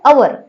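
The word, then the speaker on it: hour: तो आवर इसको अपन इसको लिखते तो एच से है लेकिन पढ़ते क्या है? अवर यानी ओ से स्टार्ट कर रहे पढ़ना।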